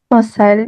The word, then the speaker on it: conselho: Conselho, if I'm pronouncing it correctly. Conselho, yes, you are.